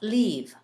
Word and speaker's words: leave: 이때도 이 소리를 입을 옆으로 쭉 찢은 상태에서 이 소리를 길게 내어줍니다. leave.